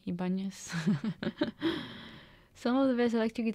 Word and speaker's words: Ibanez: How do you pronounce it in English properly? Ibanez.